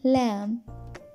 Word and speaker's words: lamb: rule number one is if M comes before B then B will go silent for example lamb Thum climb Dum Tom